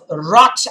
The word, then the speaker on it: wrath: The poet says, beyond this place of wrath and tears.